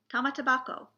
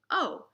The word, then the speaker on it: Tamatebako: The word of the day today is tamatabako, the jeweled box that Urashima had. You spell it Tamatebako, tamatabako.